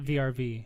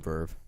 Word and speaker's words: VRV: It's not a VRV. It's Verve. It even says on the website Verve.